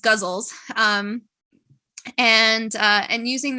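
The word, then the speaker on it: ghazal: So I have written a couple gauzles or guzzle. I think it's pronounced guzzles.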